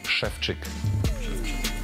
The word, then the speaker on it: Szewczyk: time shefi can hear his name pronounced correctly schfi is no problem I